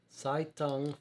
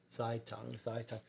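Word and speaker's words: Zeitung: pronounced it wrightberg um so first part rhymes with sky but now i'm getting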